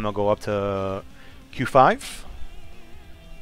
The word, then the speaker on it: QV: Next up, I'm going to go up to Q5. It is spelled QV, but the V is supposed to be a 5. Don't ask me why, that's just how it is. You'll see people say QV or Q5.